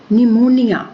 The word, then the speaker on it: pneumonia: Pneumonia, we are not saying it as pneumonia, P is silent here.